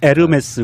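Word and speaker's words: Hermès: 나중에 문제 우리 싫어 아마 에르메스 입니다 이렇게 지욱 발음이 안 났다 면서 요금 이에요 h 가 발음이 안 되니까 우리가 음모도 호무라 고 안하잖아요 암흑에 프랑스 요 남는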